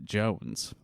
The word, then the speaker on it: Joens: All right, so this is a Des Moines Register article by Philip Jones, and Jones is spelled Joens.